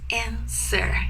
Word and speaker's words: answer: w again is silence never never pronounce the W just say answer answer okay good almost there